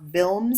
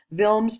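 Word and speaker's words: Wilms: the other types are vilms so it's it's pronounced with a V not with a W vilms tumor which is a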